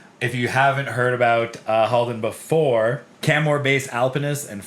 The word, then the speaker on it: Halden: Haldin Burglum.